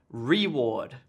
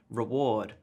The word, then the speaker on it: reward: correct stress here so here is the incorrect stress like I was saying I was saying reward but in fact the correct stress on the syllable would be reward reward reward this gets stressed and